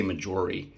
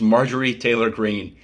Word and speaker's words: Marjorie Taylor Greene: I always want to say Majori, but it's Marjorie Taylor Greene.